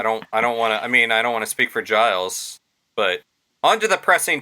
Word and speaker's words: Giles: Is this the story of Giles Corey? Yes. Is that how you pronounce it, Giles?